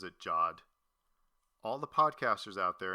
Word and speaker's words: Jod: He pronounces it Jod. All the podcasters out there and anybody else listening, quit pronouncing it Jode. He pronounces it Jod.